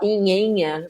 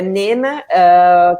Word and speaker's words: Nena: Para quem está no Brasil vai achar que fala Inhenha, né? Mas não, o jeito de pronunciar é Nena, que é uma palavra